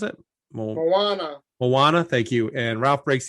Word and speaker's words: Moana: How do you pronounce it? Moana.